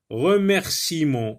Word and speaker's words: remerciement: Balbutiement, licenciement, remerciement. Donc le E ne se prononce pas.